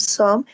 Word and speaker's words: some: Please get some, letter E in the pronunciation of some is elided, okay? It means that we don't need it because we have a nasal sound before of this.